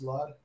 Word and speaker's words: Slud: But yeah, it's pronounced Slud, S-L-U-D. A lot of people say Slud. I mean, that works too.